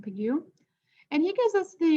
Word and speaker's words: Pigou: He was it's from an economist named Arthur Pigou, I think is how you say his last name, Pigou.